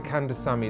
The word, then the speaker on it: Kandasamy: Keeping Up With The Kandasamy is moving into the present. Did I pronounce it correctly, firstly?